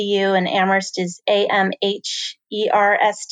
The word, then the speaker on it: Amherst: mercy D you and Amherst is a mhm ers T the H is silent that's a little fun fact on everybody knows so Amherst edu slash campus life